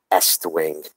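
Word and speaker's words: Estwing: of my favorite hammers, the Est Wing, or as normal people call it, the East Wing. Okay, I know the A is silent.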